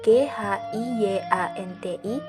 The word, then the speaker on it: Giyanti: Dalam pelafalan Belanda, ia tersebut sebagai GHIYANTI, secara tertulis ia terbaca sebagai GIANTI.